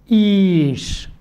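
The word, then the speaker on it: איש: അതിൻ്റെ ഉച്ചാരണം ഈ എന്നാണ്. ഇനി ആ യോദിനു ശേഷം നിങ്ങൾ എന്താ കാണുന്നത്? ഷിൻ ആണ് കാണുന്നത്. ശരി, അവസാനത്തെ അക്ഷരമായതുകൊണ്ട് അതിൻ്റെ കീഴിൽ വൗവലില്ല. ഓക്കെ, ഈഷ് ഉച്ചരിച്ചോളൂ.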